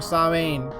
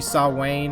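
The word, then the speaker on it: Samhain: to start preparing for sobbing I guess that should be saw wayne i think is the pronunciation it's nevermind um well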